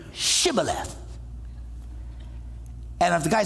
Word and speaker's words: Shibboleth: He says, if he replied no, they all said, all right, well then say Shibboleth. And if the guy said Sibboleth, because he could not pronounce the word correctly, they seized him and killed him in the fords of the Jordan.